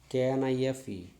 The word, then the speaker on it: knife: g silent k n that is k silent k n i d knit k n i f e knife and p n where